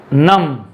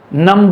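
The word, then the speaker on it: numb: नम, नंब नहीं, नम।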